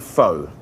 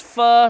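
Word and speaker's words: phở: we're going to make foe a classic French Vietnamese dish which actually FAA it should be called fur correct it pronounced fur like how is Jamie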